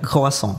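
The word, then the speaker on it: croissant: Kuasong tu macam mana sebutnya? C R O I S S A N T. Betul. So macam mana cara betul sebut betulnya pronunciation yang sebenar ialah khasong.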